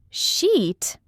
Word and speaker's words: sheet: So sheet, like Sarah was working on a spreadsheet, has a long e sound. But if you make that vowel shorter, you end up saying something very different and very inappropriate.